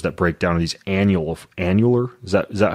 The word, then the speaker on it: annular: that the fibers that break down are these annular. Is that how you pronounce it?